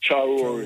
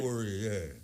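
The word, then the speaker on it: Traoré: Can you please pronounce his last name, Muta, the South African president? Traore name. Yeah, Ibrahim Traore. Traore, yeah.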